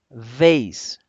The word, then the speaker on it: vase: La B la pronunciamos uniendo los dos labios, es un sonido bilabial, B, mientras que la V es un sonido labiodental, es decir, vamos a unir los dientes superiores con el labio inferior.